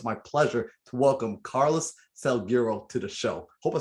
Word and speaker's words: Salguero: saint so it's my pleasure to welcome carlos selgiro to the show hope i said your name